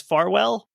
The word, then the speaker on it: Farwell: Like, and then also with the pronunciation, sometimes it's spelled without the E, so I believe the pronunciation is Farwell.